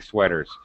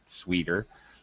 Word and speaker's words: sweater: by the way an it's sweater okay pronunciation not sweeter sweater sweer yeah sweater like